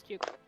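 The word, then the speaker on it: Tchugh: Yeah, my name's Chook. It is spelled T-C-H-U-G-H.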